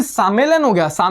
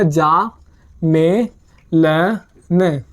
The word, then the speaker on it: sammeln: लेकिन अगर वर्ड के जैसे हमने पढ़ा है S प्लस वोवल आता है तो वह साउंड करता है वर्ड जय, तो ये वर्ड को प्रोनाउंस किया जाएगा जा में ल न, तो हो गया जामेलन। क्लियर, जामेलन।